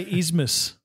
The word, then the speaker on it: isthmus: How do you say isthmus?